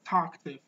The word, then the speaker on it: talkative: next word is talkative talkative that's not talkative but that's talkative you have to stress the first letter the talkative talkative means